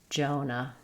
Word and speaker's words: Jonah: In Jonah, we have first syllable stress. Letter O says O. Letter A says U. Jonah. Jonah.